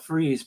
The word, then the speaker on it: Fries: got a town called Freeze but it's spelled fries you feel what I'm saying but they pronounce it freeze yeah so actually I